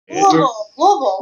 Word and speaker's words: Louisville: It's two syllables. If you're a native, Louisville.